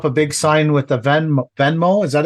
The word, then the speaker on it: Venmo: It's on, like, Vimo is some kind of app where, like, if we went out for dinner. Venmo? Venmo.